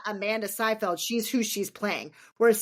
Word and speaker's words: Seyfried: Amanda Seinfeld? Is it Seinfeld? Isn't it? I did Seyfried. not. Oh, Seyfried. Sorry. Seyfried or Seyfried, actually.